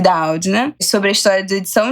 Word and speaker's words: Doudna: Jennifer Doudna, na verdade, a pronúncia, que eu já me atentei aqui, Doudna, sobre a história da edição de genes e o futuro da espécie humana.